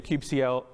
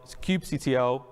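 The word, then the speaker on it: kubectl: here we can do Cube CL Cube CTL Cube cuddle depending upon how you uh how you say it uh get all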